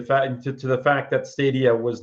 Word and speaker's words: Stadia: pick it up now stadia or stadia depending on how you want to pronounce it I understand it's stadia but I I used to call it stadia all the time um is isn't entirely